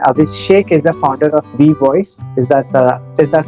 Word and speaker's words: WeVOIS: So anybody who is listening this conversation, Abhishek is the founder of V Voice. Is that how you pronounce it?